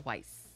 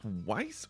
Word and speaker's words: Weiss: degrees Fahrenheit huh it's refrigerator weiss or vice however you want to pronounce it I suppose I don't know I know what the proper pronunciation is so making a vice you know and I